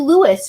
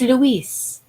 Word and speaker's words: Luis: I think I've called you Louis for like the longest time. And today, as I was doing that, I heard the strong female say, no, it's Luis. You've got to say his name, Luis. I mean, if she has an accent.